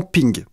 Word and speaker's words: PNG: portable network graphics et apparemment ça se prononce normalement ping il s'agit d'un format